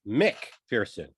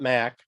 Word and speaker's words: McPherson: That's McPherson, not Mac, the listener that is always correcting my pronunciation from the UK. I got it right.